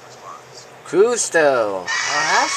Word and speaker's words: Cousteau: Jacques Couve. I don't know if they're gonna do with the pronunciation, and I'm hoping that will be him.